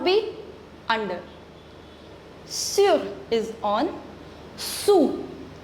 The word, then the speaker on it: sous: Sous. We do not pronounce the last consonant S. So, this is sous.